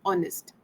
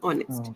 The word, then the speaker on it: honest: you said a word honest the pronunciation was little bit not right it was honest H is not pronounced like it's not honest it's honest H is salid okay honest so uh whenever you're